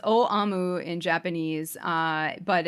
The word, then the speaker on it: Aum: Yeah, and it's actually it's pronounced O Amu in Japanese, but it's and it's usually rendered as in English as supreme truth.